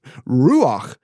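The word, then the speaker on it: רוּחַ: So standing there crows overhead and me in awe of the power of this wind, I said out loud ruach, which is pronounced ruach.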